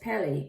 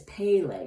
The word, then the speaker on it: Pele: So this goddess, Pele, it's pronounced, no, I'm pronouncing it incorrectly. It's Pele, sorry. So Pele is the Hawaiian goddess of volcanoes.